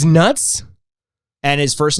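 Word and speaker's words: Nutz: at that that's hilarious it's spelled with a zed so you know they're taking it seriously I'm sorry he's probably Dutch or something because that is at the beginning but it's silent it's nuts it's nuts and his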